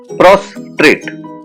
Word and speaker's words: prostrate: prostrate prostrate it is pronounced as prostrate cross trait prostate it means in